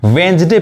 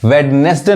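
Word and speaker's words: Wednesday: अब यहां देखिए वेंसडे पढ़ते हैं, वेडनेसडे नहीं पढ़ते यानी डी यहां पे क्या है साइलेंट है।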